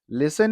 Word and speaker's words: listen: Listen is different because T is not pronounced there.